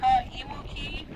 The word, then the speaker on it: Kaimuki: This area we're now in is called Kaimuki, which actually is pronounced Kaimuki, and it means underground tea oven.